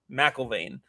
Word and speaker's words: McIlvane: Matt McIlvane? Is that how it's pronounced? McIlvane.